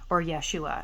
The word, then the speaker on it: Yeshua: of Jesus as well, or Yeshua as it's pronounced in the native tongue.